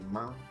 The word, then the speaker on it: Myrrh: It's pronounced Myrrh. I'm not doing that. Aww. One of Grotto's commandos. She was last seen heading east. Who was last seen heading? Myrrh.